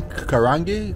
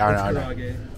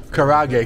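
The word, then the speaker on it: 唐揚げ: Chicken karangi?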